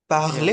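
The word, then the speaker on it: parler: या पार्ले, पार्ले this is how they pronounce या इट in French, इसका मतलब होता है टू स्पीक, या ठीक है।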